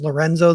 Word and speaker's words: LRNZ: guy kind of modern named LRNZ, pronounced Lorenzo, that I really like,